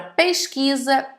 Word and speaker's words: pesquisa: Também passa pelo mesmo caso a palavra casamento, a palavra crise, a palavra pesquisa e a palavra visita, entre milhares de outras.